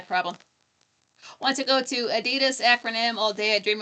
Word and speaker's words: Adidas: So Adidas is the more proper, correct way to say it. I'd never heard it said that way until I was a few years ago.